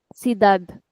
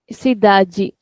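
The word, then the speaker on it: cidade: Sidaji. So in European it is sidad whereas in Brazilian it is sidi.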